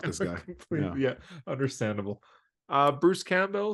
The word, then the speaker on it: Campbell: Why are you putting so much emphasis on the bell? It's Campbell. CamBELL?